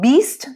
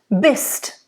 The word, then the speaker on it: bist: It's not beast, it's bist. Very important, because if you close the E, sounds very un-German.